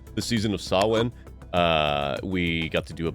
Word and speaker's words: Samhain: If you saw us deal with the season of Samhain, wow, I said it wrong. The season of Samhain, we got to do a bunch of the games from Yames.